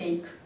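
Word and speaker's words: ache: И эйх читается як эйк.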